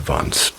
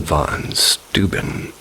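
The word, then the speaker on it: von Steuben: Another popular story is that the lanterns are carried by the Baron Vance. How do you say that? Baron von Stuben, Revolutionary War general who once lived in that area.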